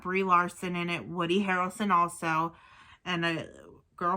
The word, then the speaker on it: Harrelson: also got um um woody harris harris harrelson that's how you pronounce it okay um and it